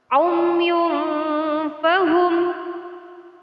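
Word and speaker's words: عُمْيٌ فَهُمْ: Jadi, Nun Sakinah atau Tanwin harus dibaca secara samar-samar. Umyun fahum, summum bukmun umyun fahum laa yarji'un.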